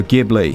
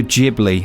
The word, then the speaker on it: Ghibli: rpg but with work from the delightful studio ghibli or studio ghibli as i've discovered is the correct pronunciation which i find very upsetting this one